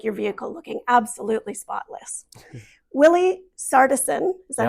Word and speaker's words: Willi Sartison: Willi Sartison, is that how you say it?